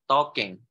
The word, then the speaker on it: talking: Talking. Talking. L-nya nggak dibaca, talking. Talking about. L-nya nggak ada.